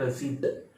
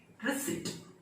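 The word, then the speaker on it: receipt: Word को कैसे बोलेंगे, बहुत सारे लोग बोलते हैं रसीद, फीस जमा हो गया, रसीद नहीं मिला, रसीद करके कुछ वर्ड ही नहीं है, ये गलत शब्द है, गलत प्रोनाउंसिएशन है। इसका असली प्रोनाउंसिएशन हो गया रिसीट, रिसीट, रिसीट, रिसीट, रिसीट।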